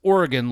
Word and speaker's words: Oregon: I'm like, "Okay, one, it's Oregon. Like your heart is an organ that I will rip out of your chest if you say it wrong again."